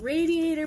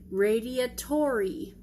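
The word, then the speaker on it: radiatori: enhancement if you will so we are making radiator pasta yes I know it's pronounced Radia Tori but at that first glance especially backwards it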